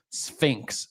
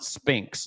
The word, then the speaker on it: Sphinx: The Sphinx as in the one located in Egypt is pronounced Sphinx, not Spinx. Like Leon Spinx.